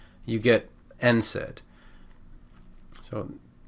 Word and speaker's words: NSAID: the d you get nsaid so it's pronounced for the first letter n and then we just say the word said if you really want